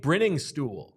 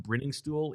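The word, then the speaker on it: Briningstool: tight end six Jake brinning stool from Clemson uh a bunch of red flags on the profile starting with the fact that it's pronounced brinning stool even though there's one n i mean it's very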